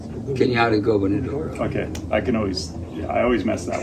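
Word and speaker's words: Cañada Gobernadora: Kenyatta Gubernadora.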